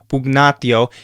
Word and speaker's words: pugnatio: For another example, you'd have words like pugnatio. It is a little bit softer, but it is still that guh sound. It's almost like guh in hangnail.